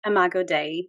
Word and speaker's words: Imago Dei: Imago Dei, yeah.